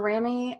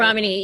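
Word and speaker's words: Ramani: I watch, Dr. Rami, I think I'm not pronouncing her name correctly. Ramini, yeah. She's a friend of mine.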